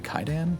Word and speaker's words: Kwaidan: up the pronunciation because I think it's technically Kaidan, but like Kwaidan. A lot of people know it as for the spelling, Kwaidan, right?